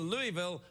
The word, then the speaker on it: Louisville: Chris in Louisville Kentucky now when you been pronouncing Louisville it's very important that you say Louisville cuz people it sounds like it be Louisville but if you go to Louisville and say hi everyone